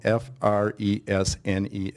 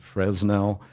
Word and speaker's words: Fresnel: The gentleman, the French physicist that invented that lens, Augustin Jean Fresnel, it's spelled F-R-E-S-N-E-L. It's pronounced Fresnel. We've heard Fresnel. The accepted pronunciation, French pronunciation, is Fresnel. Forget about the S, but you and everybody else have.